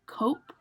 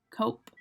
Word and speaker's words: cope: Then we have cope. Cope. We don't pronounce the E at the end there, so the O is very round.